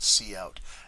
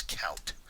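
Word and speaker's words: cout: the syntax knowing that C out and if you didn't know what C out is and that's how it's pronounced you would say what's count I don't understand what count is so this is just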